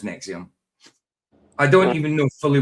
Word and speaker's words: NXIVM: sort, but not necessarily Nexium. It was spelled NX IVM, the old way for spelling you in in English. So, it's it's in the title NXVM, which is just pronounced Nexium.